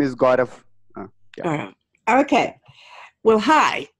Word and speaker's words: Gaurav: Okay, yeah, tell us your name again so that they hear it correctly pronounced at least once during this program. Yeah, so it's my name is Gaurav.